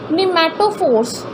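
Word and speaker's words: pneumatophores: इन्हीं रूट्स को निमेटोफोर्स, T silent है इसमें, निमेटोफोर्स और ब्रीथिंग रूट्स भी कहते हैं.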